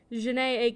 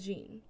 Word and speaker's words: Janae: In last episode's concluding statements, I noted that we played a song by musician Janae Aiko, but I pronounced her first name as Jean. My apologies to Janae Aiko for this mispronunciation.